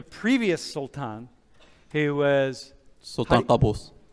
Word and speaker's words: Qaboos: Qaboos.